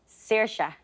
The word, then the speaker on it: Saoirse: Saoirse.